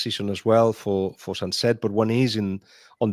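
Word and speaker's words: Sancet: then again recently um is it Oan um Sanche Sunset? Yeah, Sunset. I I like to get my pronunciations right so thank you um Gen for that.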